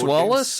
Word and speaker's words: Wallis: By Wallace, and that's spelled Wallis.